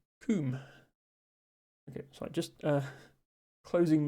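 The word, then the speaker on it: cwm: But the difference is that W can be a vowel in Welsh. As in this word, which is actually in Scrabble, even in the English Scrabble dictionary. Pronounced coom.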